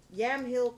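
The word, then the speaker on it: Yamhill: How do you spell that? Y A M H I L Y A M H I Yamill County.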